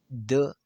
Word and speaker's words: the: तो हम दी वहाँ पर प्रोनाउंस करेंगे जहाँ इसके बाद वावल साउंड होगा। दी एप्पल, दी एप्पल हम इस तरह प्रोनाउंस करें।